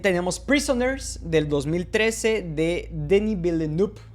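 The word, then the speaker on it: Villeneuve: También tenemos Prisoners del 2013 de Danny Bill Noop, creo que así se pronuncia ya correctamente, ya aprendí cómo hacerlo.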